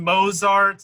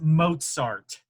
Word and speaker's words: Mozart: I know it's spelled that way, but it's pronounced Mozart. Where the fuck is the T in Mozart?